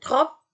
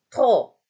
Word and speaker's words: trop: Ya, bukan trop, P-nya nggak dibaca, tapi trop.